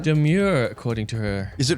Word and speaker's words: Domergue: According to her, she seems to want it pronounced demure.